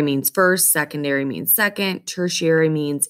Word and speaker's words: tertiary: that herbivore this word means third it is pronounced tertiary tertiary a tertiary consumer is a carnivore at the topmost level